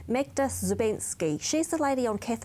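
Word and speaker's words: Magda Szubanski: Yeah, and there was an article written about, I always make sure I pronounce this correctly, Magda Zubensky.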